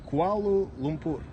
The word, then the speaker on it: Kuala Lumpur: Kuala Lumpur.